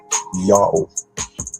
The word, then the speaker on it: Yao: The first syllable is read as Ya, while the last syllable is O or U. But the older pronunciation in other language uses O vowel, so it must be O. So the earliest transliteration Yod and Waw was read Yao.